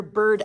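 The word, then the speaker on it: Burd: 2 older brothers, then Childe Rowland, our protagonist, and then his sister, Bird Ellen, which is spelled B-U-R-D, but is probably just an older form of bird, like it's her nickname.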